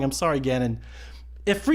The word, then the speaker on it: Ganon: acarina but just to drive the home it's Ganon with one in I'm not asking but commanding